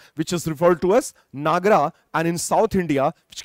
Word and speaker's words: Nagara: we refer to as Nagar, which is phonetically pronounced as Nagara style of temple architecture.